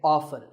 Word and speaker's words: often: this as often now strictly speaking often is not wrong but the more common pronunciation is with the T silent so I recommend that you always say often one word that's often